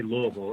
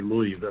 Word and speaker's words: Louisville: you got to say Louisville if you're going to come down here you don't say Louisville or anything strange like that you got to say it like the locals do Louisville and uh and there